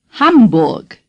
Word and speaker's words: Hamburg: to you and say Hamburg the letter A in German is pronounced ah hum say hum the letter U is pronounced ooh say bulck now say